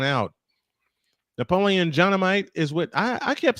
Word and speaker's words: Napoleon: Napoleon Dynamite is with. I kept saying Napoleon's name wrong for some reason. I thought it was a long O instead of a short O.